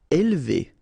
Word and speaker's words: élever: Élever. Alright, so don't pronounce this here.